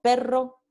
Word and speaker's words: perro: Entonces, aquí tenemos el par mínimo pero versus perro, ¿no? Pero, perro.